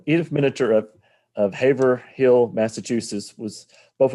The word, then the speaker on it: Miniter: Miniter. Miniter, yeah. Or that's how I say it. Maybe some others say it differently.